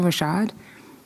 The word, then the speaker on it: Rashad: Oh, it's Maisha Rashad. You need me to spell it for you?